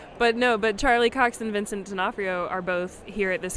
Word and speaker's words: D'Onofrio: No, D'Onofrio. No, D'Onofrio. Vincent D'Onofrio. Sorry, Vince Vaughn was at GaryCon. There we go. Yeah, sorry. But Charlie Cox and Vincent D'Onofrio are both here at this convention, and so